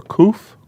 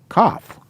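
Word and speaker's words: כף: a hoof or a coof no we call it a cough okay all right i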